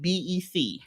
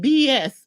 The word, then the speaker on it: BEC: be really prevalent is, I guess it's called BEC. Yes. And I was saying it wrong to my friends. I was saying BES.